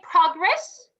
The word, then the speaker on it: progress: perfect present okay great when i say progress this is a noun but as of progress very good progress yes so these are the